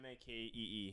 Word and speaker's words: Makee: It's MAKEE. Makee. Oh, Makee. Mackie. It's the word make with an E on the end.